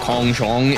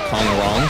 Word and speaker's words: Kong Rong: It's the same as like when people call him Kong Zhong instead of Kong Rong, because they don't pronounce their R's the same way. Like, a lot of languages don't use that R kind of sound.